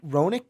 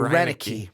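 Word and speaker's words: Roenicke: the one to change the culture Ron Raonic Roenick he probably saying that wrong look I usually do think I'm sorry Rena key Rena key with the Brewers Wikipedia is your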